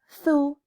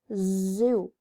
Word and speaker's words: zoo: And remember, pronunciation of the letter Z, which we see here, number 12, is Z, not F, okay? So it's not thu, it's zoo, right?